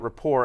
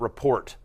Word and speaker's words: rapport: by the way, for pronouncing it rapport and not report, which I thought you might have done. No. We don't say that in Australia. Okay, got it. We're very much in line with the French pronunciation.